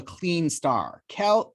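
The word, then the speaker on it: Kleene star: If I do an asterisk, that becomes what we call the clean star, which is spelled K-L-E-E-N-E, which I just put into the chat.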